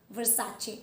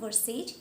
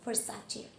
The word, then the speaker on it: Versace: So the first word it is supposed to be pronounced as Versace. It is not Versace, it is Versace.